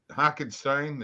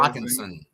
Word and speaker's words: Hockenson: Hockenstein, is that how you say it? Hockenson.